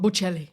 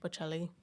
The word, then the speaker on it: Bocelli: Bocelli. Bocelli.